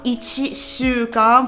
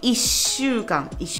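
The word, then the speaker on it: 一週間: C'est pas ichi shukan pour une semaine, on dit ishukan. Du coup, on fait un petit peu la pause entre ichi et shukan et on ne prononce pas chi.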